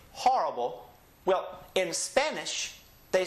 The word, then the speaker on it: horrible: So when we pronounce it, remember that the H is silent, so we start with that letter O, and we say horrible.